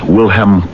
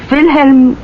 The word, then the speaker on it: Wilhelm: His name is or was France Wilham Clust. Um, does that mean anything to you? France Wilham Clust. Maybe I'm not pronouncing it right. Perhaps it's KL. France Wilhelm Clust.